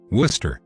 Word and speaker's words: Worcester: to blame the uk for the second one worcester england is pronounced the same way many cities in massachusetts